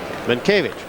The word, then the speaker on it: Mientkiewicz: Do it phonetically so he can pronounce his name right. Mientkiewicz. Mankiewicz. You are correct.